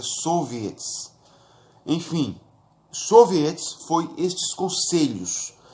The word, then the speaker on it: soviets: Conselhos em russo é soviets, os soviets. Em português poderíamos dizer sovietes, né, mas pronuncia soviets.